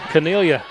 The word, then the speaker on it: Cornelia: freshman from connelia cabersham central that's well done pronounced i like the locals c-u-r cornelia cornelia got relatives there cornelia and macy passmore from flowery branch martin with 14.